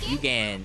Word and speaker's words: Eugen: Where is Prince Eugene? Okay. Yugen. I keep pronouncing her name as Prince Eugene.